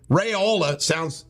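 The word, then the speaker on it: Raiola: All right, this big shot quarterback, one of the apparently top in the country, Rayola, rhymes with areola, is going to Georgia.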